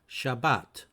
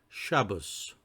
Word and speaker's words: Shabbat: from the Hebrew word Shabbat Shabbat or if you want to pronounce it in the Ashkenazi way Shabbos some more information about